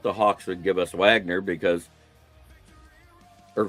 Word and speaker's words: Wagner: I doubt the Hawks would give us Wagner because or Vagner as they pronounce it because he's German.